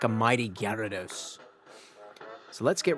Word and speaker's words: Gyarados: rise right to the top like a mighty Gyarados.